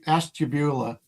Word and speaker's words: Ashtabula: Well, it's pronounced Ash Ashtabula.